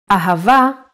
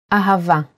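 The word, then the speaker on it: אהבה: and ah the word ahava uses it in both ways when hay appears in the end of the word it will always sound as a ahava is love in Hebrew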